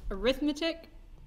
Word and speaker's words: arithmetic: so right yep now you may try to pronounce this as arithmetic whenever you're doing this but if it is paired with sequence we simply typically say arithmetic right thing like that